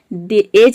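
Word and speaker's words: edge: तो इन सभी वर्ड में आप देख रहे हैं कि डी जी एक साथ आ रहा है, या फिर डी के बाद जी आ रहा है तो यहाँ पे डी को हम साइलेंट रखते हैं, डी को प्रोनाउंस नहीं करते हैं, केवल जी को प्रोनाउंस करते हैं।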